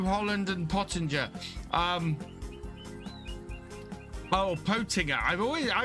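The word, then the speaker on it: Pöttinger: I've always I was told by uh when I was doing the FSL that it was Potinger, but I think everybody in the UK calls it Pottinger. Maybe that's just how the Germans pronounce it.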